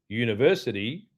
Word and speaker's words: university: University is a consonant sound. like a Y.